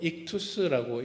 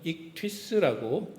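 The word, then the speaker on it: ΙΧΘΥΣ: 설명이 조금 나와 있습니다만은 보통 우리 한국말로 익투스라고 읽기도 하고 조금 영어식으로 발음을 한다고 한다면 익트스라고 읽기도 합니다.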